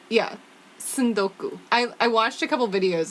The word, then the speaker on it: tsundoku: word the word is son-goku Sando Sando cool it's wild TSU nd okay you like tsunami and Sudoku pretty much yeah it's yeah San Goku I watched a couple